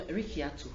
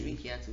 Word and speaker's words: Rikiatu: But I'm Rikiatu. okay, Rikiatu.